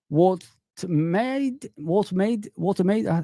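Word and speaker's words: Woltemade: Watermaid.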